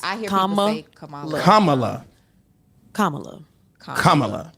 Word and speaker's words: Kamala: we pronounce her name think of Kama Kama love La Kamala Kamala so it's not Kamala it's Kamala Kama love all right now I'm